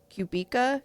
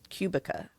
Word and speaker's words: Kubica: It is called Local Woman Missing by Mary Cuba. Cub. I think that's how you say her name. Cuba. I don't know. I don't know what it is. K U B I C A. That's how you That's how you spell it.